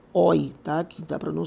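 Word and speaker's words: Euler: então esse cara ele o nome dele é um nome alemão tá especialmente não era alemão mas aqui da suíça mas da suíça da parte alemã e a pronúncia é oi tá que dá para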